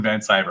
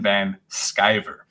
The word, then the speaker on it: Van Sciver: get trashed calling for calling him Ethan Vince I ever apparently it's Ethan Van Sciver oh well but I'm